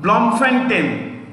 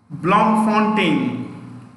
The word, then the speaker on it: Bloemfontein: Next, third one, Bloemfontein, I'll spell it, B-L, I repeat, B-L-O-E-M-F-O-N-T-E-I, Bloemfontein.